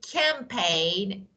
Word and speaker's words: campaign: let me give you for example you can say campaign yeah that is yeah and you can see a sign or sign foreign yeah all of them are silent G so let me okay